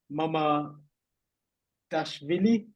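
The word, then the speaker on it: Mamardashvili: I'm going to try to pronounce it. Mama Dashvili.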